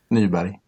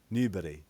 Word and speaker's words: Nyberg: Nyberg. Nyberg. Wow. Can I just call you Nyberg? Yeah. Yes. Buswell and Nyberg's Dutch Orchestra Challenge. So it's a new challenge by us being Buswell and Nyberg.